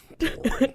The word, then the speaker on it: Boring: That's boring. I hope that's not how it's pronounced. I hope I'm pronouncing it wrong, but Boring, Oregon. No, it is. It's boring.